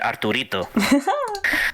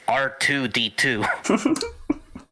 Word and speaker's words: R2D2: the Lord to me he always kept pronouncing it arito I was like okay so I guess his name his name arito until I realized like no it's R2D2 that's that's endearing and